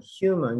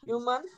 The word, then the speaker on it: human: world okay good name is human no human human you pronounce the age human yeah sometimes it's uh not confusing but sometimes